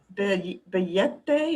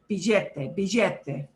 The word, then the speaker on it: billete: Okay, yeah, that double L. It can sound, that double L, there's any range of sounds that the double L can make. From y, like a Y, to j, a little j. If you're down in Argentina, it becomes a very strong billete. I don't suggest you do that because billete people will think you like learned in Argentina.